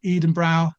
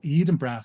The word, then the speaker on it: Edenbrow: Please follow Paul Edenbrow at Paul Edenbrow. That's how it's spelled.